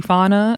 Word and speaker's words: Fania: Summer's like, yeah, good, because I wasn't going to give you an apology, Fana.